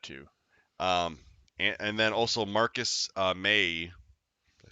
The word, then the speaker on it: Marcus May: Um, and then also Marcus May. Did I say it right? Yeah, Oh my God, I got one right. Yay me. like the month.